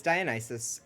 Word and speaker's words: Dionysus: I've been pronouncing it Dionysus. No, it's Dionysus. The god is Dionysus, and if you want to say that something is like Dionysus, it's Dionysian or Dionysian.